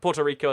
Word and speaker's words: Puerto Rico: tempted to say it like Puerto like but Puerto Rico is how most people actually just say it